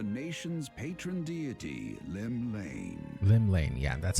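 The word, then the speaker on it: Llymlaen: Gaze of the nation's Patron deity Lim Lane Lim Lane yeah that's how you say it what realm-shaking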